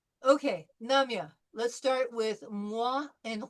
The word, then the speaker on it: moi: We pronounced it wa, moi, wa.